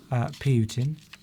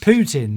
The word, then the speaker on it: Putin: Well, I quite admire Putin. It's He's a shame. strong It's leader. a shame you don't pronounce his name right. Okay, Putin then. That's Putin. better.